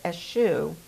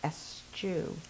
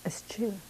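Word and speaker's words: eschew: c e w which I always though is ASU which means to shun or to stay away from like uh but it's act I looked it up and the preferred pronunciation is estu estu so I you want to say God bless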